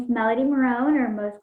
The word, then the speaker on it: Marone: Do you pronounce the E at the end or not? Is it Marone or is it Marone? Melody Marone, you got it.